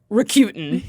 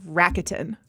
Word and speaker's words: Rakuten: The thing that I know is definitely wrong is the Q, like Q as opposed to coup, right? Being a syllable in there. But they did commercials at one point, and I believe that it was pronounced in those like Rakuten.